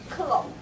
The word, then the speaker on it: Clos: you will just embarrass yourself so the right pronunciation is clone okay so a clone Network looks like this